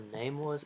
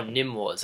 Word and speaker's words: Nym Wars: Or Name Wars? It's spelled N-Y-M. Oh, Nym Wars, I get it, like pseudonym.